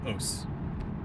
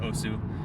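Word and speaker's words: osu!: And one that I used to play a ton of is called OS. Spelled OSU, some people pronounce it OSU. The developer pronounces it os.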